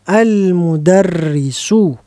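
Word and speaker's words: المدرسُ: Iya, yang betul adalah al-mudarrisu. Kalau ada tak marbutoh baru mirip. Mirip antara al-madrasatu dengan al-mudarrisatu. Kalau ini nggak ada tak marbutohnya, maka kita baca al-mudarrisu.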